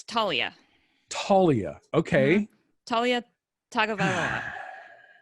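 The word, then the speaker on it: Taulia: I can't even pronounce his first name. It's Talia.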